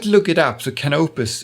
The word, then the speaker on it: Canopus: look it up so canopus is the way uh to pronounce it.